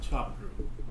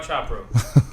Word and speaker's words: Chharpoo: And how do you pronounce the last name? Chharpoo. Chopra? Chopra? Chopra. Close enough.